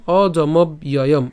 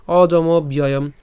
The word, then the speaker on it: অজমব্যয়ম: নিত্যয় এরপর ইয় এনম অজমব্যয়ম ঠিক আছে ইয় এনম অজমব্যয়ম ওই যে কিছুক্ষণ আগে দেখিয়েছি তো এই পুরোটিকে আমরা যদি একসাথে উচ্চারণ করি কেমন হবে অজমব্যয়ম অজমব্যয়ম ঠিক আছে আর যদি ভেঙে উচ্চারণ